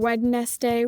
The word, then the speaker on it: Wednesday: Do you have a habit of saying Wednesday when you spell it out? When I spell it out, yes.